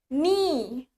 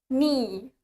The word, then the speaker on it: knee: Lutut in English is knee. Knee. knee. Tulisannya K-N-E-E. Tapi K-nya nggak dibaca.